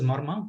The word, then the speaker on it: Marma: So the word Marma is formed by 3 syllables, Ma, Ra, and Ma.